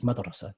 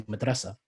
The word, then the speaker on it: madrasa: Most Arabs would pronounce it as madrasa, school. And Egyptians, in Egyptian Arabic, they would say madrasa.